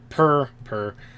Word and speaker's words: purr: You just roll your R, but make it a P sound.